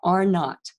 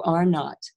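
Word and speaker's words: R naught: at the bottom and it's pronounced not like naughty so are not and the are not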